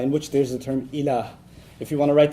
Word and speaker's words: ilah: La ilaha illallah, in which there's the term ilah.